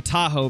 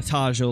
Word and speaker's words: Tajo: that I think that I think it's pronounced a Tahoe because I believe it is Spanish so I think it is a Tahoe not a tajo like I said holy